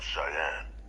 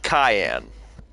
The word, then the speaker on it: Cheyenne: Collective home system of Cheyenne. A massive strike, capable of obliterating Freestar Central Command. I was watching some video and they pronounced it Cayenne.